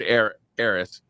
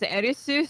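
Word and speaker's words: Aerith: So you'd already saved Eris, whatever. You can say either because in Japanese it's Erisu, so you know, Earth doesn't even exist.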